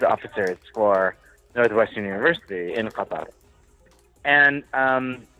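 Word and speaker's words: قطر: In Arabic, it's pronounced Qatar, but they spell it in English Qatar.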